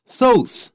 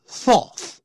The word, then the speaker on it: Thoth: It was also associated with the god Thoth，也可以念 Tot，两个发音都可以啊，也有念 Thoth。